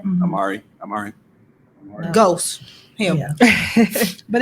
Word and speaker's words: Omari Hardwick: And Omari Hardwick. Is that how you Yes. pronounce his name? Mhm. Amari.